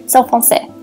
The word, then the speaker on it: Selle Français: I'm saying it wrong. I'm French and like I have French heritage and I'm learning to speak fluent French. So I'm actually seeing some French relatives later today. Anyway, the point is I shouldn't know how to say that. It's Selle Français. That's how you say it.